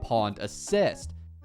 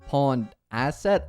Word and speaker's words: Pawned Asset: stacks of something called Pawned Assist. It's actually called Pawned Asset. I mispronounced this for the rest of the video, by the way.